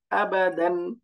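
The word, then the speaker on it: أَبَدًا: উচ্চারণ কি হয়ে গেল আবাদান আবাদান আবাদান কোন টান নাই বাকি এই যে দালের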